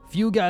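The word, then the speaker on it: Fugue: Fuga is how you pronounce it.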